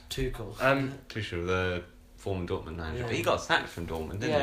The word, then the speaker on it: Tuchel: how is it pronounced? Tuchel.